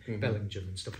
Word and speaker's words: Bellingham: uh bellingen which is spelled Bellingham but pronounced Belling Jim because it's a northumbrian pronunciation so if you go